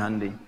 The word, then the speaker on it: Hyundai: Honda ya Korea bikin hundai Hyundai bacanya hundai kemudian sana masuk Piala